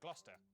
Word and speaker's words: Gloucester: a couple of basics cesta is pronounced stir leicester worcester gloucester w at the start